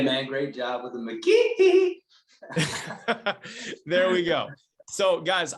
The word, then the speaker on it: McGehee: His name is not Matthew McGehee. He said you got to say it like Michael Jackson. His name is Matthew McGehee.